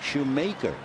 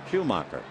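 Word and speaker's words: Schumaker: So the first time we saw Skip, instead of his name sounding and looking like Schumacher, it looks like Shoemaker, Maker, but he pronounces it Schumacher.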